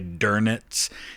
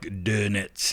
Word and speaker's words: Dönitz: really a U and it's not really an O, so it's somewhere in between. So it almost sounds like an ER, so sometimes you'll hear people say Dönitz, and it's kind of like Dönitz, you know, something like that, but again, not perfect for me.